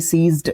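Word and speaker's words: seized: एस ई आर आई जेड ई डी अब सी ये सीज्ड ये भी आपका सीज्ड ही एक तरीके से प्रोनाउंस किया जाता है।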